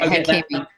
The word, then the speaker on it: Hakimi: to get him, get, I believe I want to say it's Hakimi. I might be wrong in the pronunciation from Inter Milan. You're right, Hakimi.